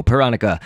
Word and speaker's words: Pyronica: cuz you know pyro panica but just going off of how Bill Cipher pronounced her name in the episode where he introduces all of his friends it is panica and in one of